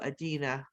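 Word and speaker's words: Adunni: The other people in the town, when Big Mama was nasty to Adina, that's how you say her name, they accepted it, and that was fine because that's what they were used to.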